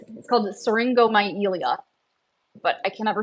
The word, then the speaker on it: syringomyelia: But it's called syringomyelia, but I can never say it right. That's probably not pronounced right. The first part looks like syringe, myelia.